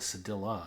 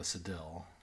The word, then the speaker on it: cedilla: It's called a Cedilla, apparently. Not a Cedille.